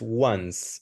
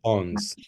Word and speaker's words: once: Samantha, one thing, the pronunciation is once. Once loved. Not ons. Once.